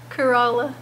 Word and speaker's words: Corolla: we drove up to Corolla and that's how you say it right no Kerala Kerala Kerala and um we went